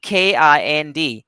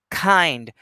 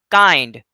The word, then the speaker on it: kind: third one is so this sound is also aspirated when it's the first sound in a word followed by a vowel sound in this case you can see k-i-n-d how do we pronounce